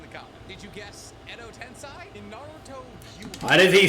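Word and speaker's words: 穢土転生: Did you guess Edo Tensei? In Naruto, Why does he say it like that? It's not Edo Tensei. Edo Tensei. Say fucking Edo Tensei.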